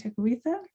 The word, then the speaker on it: Tekakwitha: importance of saint kateri takawita that's how my people pronounce her name i've been taught that